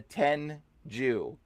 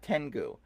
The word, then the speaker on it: Tengu: This is the Tenju. Okay, it's not Tengu. It's Tenju. Okay, we have been mispronouncing it. Totally wrong.